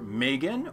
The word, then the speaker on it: M3GAN: the official trailer for Megan or is it me dragon it's spelled m3jn I assume it's Megan and I'm going to pronounce it as Megan because anything else is just ludicrous and while Megan was